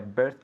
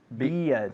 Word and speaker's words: beard: No es beer, es beer. Ajá. Así es igual, beard, Okay. con una D al final.